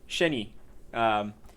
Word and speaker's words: Shenyi: Shenyi is the way that Chawi pronounced it.